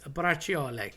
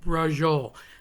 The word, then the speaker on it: braciole: cuz I'm domestically useless is braciole which so many people call brajole. And again, I get it. Um easier to say, lazier on the lips.